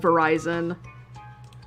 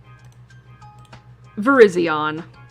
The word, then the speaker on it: Virizion: You'll understand why I made that joke, because this always gets called Verizon. Virizion. Virizion, which is the same in Japanese.